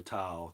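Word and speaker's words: תו: Tav or Tau, depending upon how you say it.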